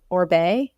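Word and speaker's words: Oribe: um just started using um like I always pronounce it incorrectly is it orbe yeah you got it did I say it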